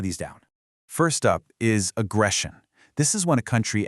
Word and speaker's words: aggression: For pronunciation, listen to that eshin at the end. It makes a shun sound. Listen, aggression.